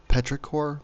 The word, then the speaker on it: petrichor: The smell after rain is called petrichor, P-E-T-R-I-C-H-O-R, petrichor. Petrichor, in pronunciation, comes partly from oils released by plants.